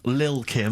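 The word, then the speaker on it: Lil' Kim: Now, Steve, I see there, it's a track by Little Kim, but how are you pronouncing it? I'm pronouncing that correctly, Lil Kim. Oh, no T's involved.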